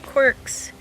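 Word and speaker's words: Qwerx: And he's got a lot of quirks. Maybe it's not the most creative name, but I thought it was. It's spelled Q-W-E-R-X, if anyone else is interested.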